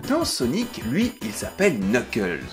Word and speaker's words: Knuckles: Sonic lui il s'appelle Knuckles alors déjà on prononce pas le cas et puis surtout Knuckles